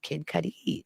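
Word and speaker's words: Cudi: Kid Cuddy.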